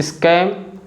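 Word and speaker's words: scam: कि sceptic स्कार स्कैम इन तीनों words में जो लेटर सी है ना यस के तुरंत बाद तो आ रहा है लेकिन फिर भी हम लेटर सी को बोल रहे हैं और सी कौन सा आवाज बना रहा है क आवाज बना रहा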